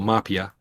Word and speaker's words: Mahpiya: I'm usually in Emphasis on the first syllable, Mahpiya.